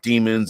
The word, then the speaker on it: daemon: Demons and devils and fiends and those kind of things. What are the other ones called? Daemons. It's pronounced demon anyway, but you get it.